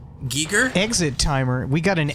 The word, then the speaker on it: Giger: HR Giger inspired me his name is pronounced of Giga geeker exit timer we got